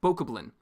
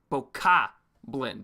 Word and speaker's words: Bokoblin: So I pronounce it very literally as boko blin, not boka blin.